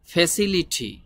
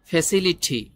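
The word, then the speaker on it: facility: একটা সুন্দর হবে না এই টির উচ্চারণ ওরা ঠর মত করে বলে বাংলা ভাষায় ট আছে না টর পরে যে ঠ আছে ওই ঠর মত করে এই টির উচ্চারণটি করে ওরা ফ্যাসিলিটি ফ্যাসিলিটি মিন হলো ফ্যাসিলিটি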